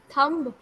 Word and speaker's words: thumb: Okay, last में b आता है, लिखा जरूर जाता है, but इसे pronounce नहीं किया जाता है.